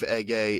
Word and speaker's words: Ege: He now goes by the name of Ege Demir, and I believe Ege is the way that you pronounce it on the first name, E-G-E, Ege Demir, and that is like a really popular like Turkish name, the first name Ege.